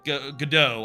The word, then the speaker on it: Godot: I've been looking mostly at Godot, or Godot, I guess you say it. The T is silent.